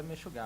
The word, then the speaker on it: Meshugá: Mexugá ou Mexugá, como é que se pronuncia? Fala Mexugá.